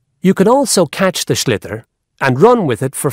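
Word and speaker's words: sliotar: this ball called a schlitter that's s-l-i-o-t-a-r so it's not spelled the way it's pronounced you hit ears into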